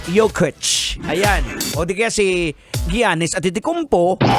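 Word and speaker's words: Jokić: common name gaya ng mga nicola juk na ang dapat na pronunciation is nicola yok Ayan kaya si di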